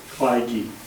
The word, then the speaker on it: Kleiheege: The last name is Nailing it all. spelled Kleiheege. And it's pronounced Kleige. like, The French pronunciation of the German name.